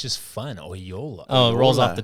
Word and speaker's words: Oyola: rolls off the T A lot of people have trouble with it at first you see it on paper you're like how do you say that it's two o's I thought it was um when I first met you I thought it was AA just spelled different all my life yep but I got